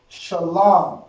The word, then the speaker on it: Shalom: Shalom.